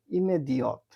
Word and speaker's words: immédiate: হ্যাঁ, এটা ইংরেজি ইমিডিয়েটের মতো বানান দেখা যায়, কিন্তু উচ্চারণ হবে ইমেদিয়ত, ইমেদিয়ত দে পুলিশিয়ে মানে তাৎক্ষণিক পুলিশের সহযোগিতা চাইলো।